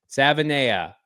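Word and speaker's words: Savaiinaea: How do you pronounce his last name, Damon? Savanea.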